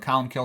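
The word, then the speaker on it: Colum Cille: Colum kill is you know it's here's how it's spelled but column kill is how it's pronounced.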